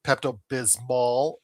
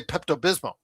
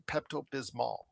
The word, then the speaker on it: Pepto-Bismol: Everybody just the way they say it, you always say Pepto-Bismol. You don't say Pepto-Bismol because it does have an L on the Who Pepto-Bismol?